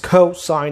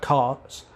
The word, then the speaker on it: cosine: so this was signed not sin sign does cosign not cos and this is tangent not tan so cosecant